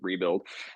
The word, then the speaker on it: RBLD: Fitness right that's right yeah yeah um it's pronounced rebuilding the word rebuild um the premise being you know kind of